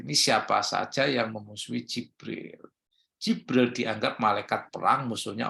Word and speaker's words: Jibril: kepada kami affania jadi Jibril Kemudian yang kedua jabril dengan fathah Jin Ibnu Katsir ini